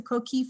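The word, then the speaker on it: coquí: youtube and look up a video of the co-key frog because their sound is like nothing i've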